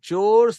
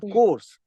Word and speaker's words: chores: that's correct okay it's remember the pronunciation of CH H re is chores chores it is not course right the other day also I heard one of the participants say core it is not core it is chore household chores